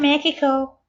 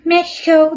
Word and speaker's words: Mexico: You have the English way and the Spanish way.